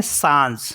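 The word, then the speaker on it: singe: एस आई एन जी ई इसको पढ़ते हैं सांज सांज मीस होता है मंकी और नेक्स्ट वर्ड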